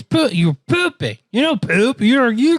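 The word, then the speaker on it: Phu Ping: like a palace called pooping palace that's literally how you say it it's like poo ping palace and i laughed and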